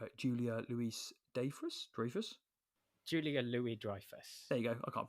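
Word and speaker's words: Louis-Dreyfus: Julia Louie Drifus. There you go. I can't pronounce things.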